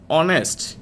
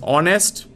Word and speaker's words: honest: this edge sound is honest the word begins with H or any s T but we pronounce it as honest hear the word H remains silent so we will go